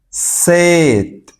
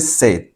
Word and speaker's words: said: La evolución va a ser set. Mire cómo se pronuncia. Set. Este se dice say y este se dice set.